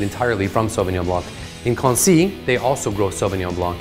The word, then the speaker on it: Quincy: This week, we're looking at a wine from a village called Quincy, spelled very similar to Quincy. People often call it that, it's fine, but the French pronunciation is Quincy.